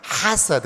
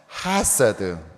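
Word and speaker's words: חֶסֶד: 근데 이왕 하는 김에 우리 원어 발음으로 좀 더 이걸 후음이 있어가지고 가래 끓는 듯이 내야 돼요. 그래서 헤세드 이렇게 하셔야 되거든요. 다시 한번 헤세드.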